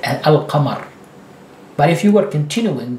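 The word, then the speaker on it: القمر: Therefore, you don't stress it at all, and you pronounce a, lam, and the qa. Al-qamar, al-qamaru, al-qamaru.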